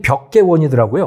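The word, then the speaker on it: 碧桂园: 그 헝다그룹도 그렇고 뭐 이 비구유안이라고 하는 우리 한글 그러니까 한글 발음으로 읽으면 벽계원이더라고요.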